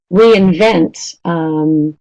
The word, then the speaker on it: reinvent: box, so da-da-da, again, you notice how those are both verbs: understand, introduce, reinvent, okay? So not always, but often verbs are stressed more on the last syllable.